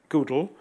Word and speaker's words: GDAL: When I talk about rgoodle, it's because Frank Womerdam said that he pronounces GDAL Goodle because he wanted it at one stage to be object-oriented, but it never got there. So he calls it Goodle.